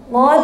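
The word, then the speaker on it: قُلْ: Kalau ibu nggak bisa ngucapin huruf qaf, ibu membaca kul huwallah salah loh. Qul huwallah harus pakai qaf. Katakanlah. Qul itu katakanlah. Kalau kul pakai kaf itu makanlah.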